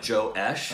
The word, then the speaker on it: josh: It's spelled Josh, but it sounds like Joe-esh.